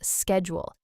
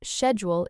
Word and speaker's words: schedule: If it's American English, go with schedule. If it's British English, schedule is perfect. Both are correct, just different.